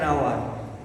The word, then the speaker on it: hour: অ্যান্ড is used before consonant, and ব্যবহার হয় কনসোনেন্টের পর ই, the first H of word is silent, an hour, an honest, an honorable.